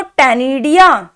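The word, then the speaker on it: ctenidia: तो इसके गिल्स को टेनिडिया कहते हैं। सी साइलेंट है यहां पे।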